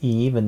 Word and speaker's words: Yves: mini-album the peach blossom the S is silent so it's even not even that I